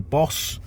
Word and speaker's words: Bose: I think we've all heard of BOSE or BOSE. I think the founder's name was Chandra Bose, so I suppose BOSE is the correct way of pronouncing it.